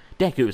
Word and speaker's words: Deku: Deku, sorry. Apparently it's pronounced Deku, which seems weird to me, but you know, who the hell am I to question it?